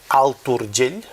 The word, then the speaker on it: Alt Urgell: Vius en un petit poblet de l'Alt Urgell, ja ho diré bé, Alt Urgell, ara sí que em surt bé, perquè he de pronunciar la T.